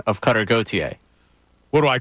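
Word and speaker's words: Gauthier: drives me kind of nuts too when you mispronounce a guy all right how do you say his last name gotier all right so cutter does not deserve my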